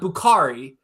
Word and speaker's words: Bukhari: And so this is, look, one of the pronunciations that I know we've had right is Bukhari, right? Yep. It's not Bukhari, it's Bukhari.